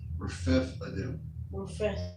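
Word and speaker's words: Rephidim: That H is silent. Rephethadim.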